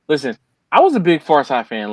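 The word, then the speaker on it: Pharcyde: r c y That's Far Side that's far side okay Far Side yeah I heard of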